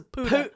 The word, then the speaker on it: puta: can't call you a puta? I didn't think you heard me or understood me. Oh, shit. Plus, you didn't put the accento on the right. It's puta. It's a puta.